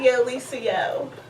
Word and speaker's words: YoLisaYo: Yeah, it's kind of like someone was saying, Yo Lisa, and then I'm like, yo.